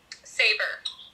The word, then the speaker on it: Sabre: Saber. Yes. When... pronounce it Sabre.